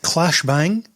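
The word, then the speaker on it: Claes Bang: Clash Bang, and that's how you say his name apparently, joins Dave Bautista and Jason Momoa in The Wrecking Crew.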